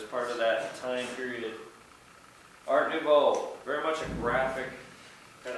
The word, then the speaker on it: Art Nouveau: Before I tell the story, The style is in French, Art Nouveau. Art Nouveau, it's spelled up on the board. It is in French, Art Nouveau. It has a lot of vowels. N-O-U-V-E-A-U, Art Nouveau.